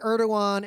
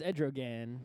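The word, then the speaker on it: Erdoğan: basically voted in a scam election to make Erdogan effectively the Chancellor of Germany. Oh, is that how you pronounce his name? I thought it was Edrogan.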